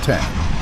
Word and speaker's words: X: When Textron put the Citation 750 or X pronounced 10 into production in 1996 with its enormous Rolls-Royce AE3007 engines.